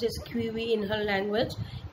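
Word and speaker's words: Chewiwi: It is written C-H-E-W-I-W-I, but it's pronounced as Quivi in her language. E. Ashwar's pen name is E. Ashwar, but her actual name was Louis Abatha Quivi.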